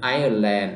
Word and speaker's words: Island: ไอซ์แลนด์ อำเภอ แม่น เนาะ ต้อง อ่าน ออก เสียง Island เด้อ ตัว อย่าง ที่ 3 Fireman Fireman แปล